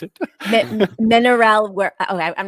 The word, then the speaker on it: Mineralenwereld: That's how you pronounce it. Mineralwereld.